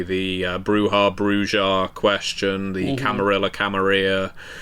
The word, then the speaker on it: Camarilla: See, where whereas I pronounced it Camaria for many years until my vampire players told me I was saying it wrong.